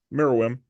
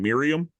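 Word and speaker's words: Meruem: was uh so yeah mirim and I said his name wrong for a long time like I kept calling him Miriam yeah because I was switching the U in the E I mean I blame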